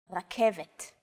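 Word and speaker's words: רכבת: The K, V, and T sounds are practically identical to English. It's only the R that's a little different. Focus on this first letter. It's often written as an R, but don't be fooled. This letter is pronounced differently than an English R. It's pronounced at the back of the throat instead of forward in the mouth.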